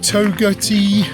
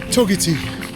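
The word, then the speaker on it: Togwotee: So Jiua is pronounced Dubo and Toerti pass that I just went over is pronounced Toati.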